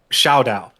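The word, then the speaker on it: Shaodow: Oh my God, I gotta make sure I pronounce his name correctly because I pronounced it incorrectly before. Shao Dao.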